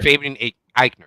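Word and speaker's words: Fabian Aichner: good team with Imperium, leaving how do you pronounce that guy's last name? Fabian Eichner. Eichner. Eichner. Fabian Eichner, that's right.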